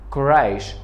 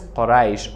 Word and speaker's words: Quraysh: Quraysh, American people pronounce this Quraysh, Quraysh. But in Dari it is Quraysh or in Arabic it is Quraysh.